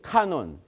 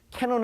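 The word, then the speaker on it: canon: 카논. 캐논 하는 것이 아니라 이거는 라틴어이기 때문에 발음 교대로 읽어요. 카논 이렇게 읽어요.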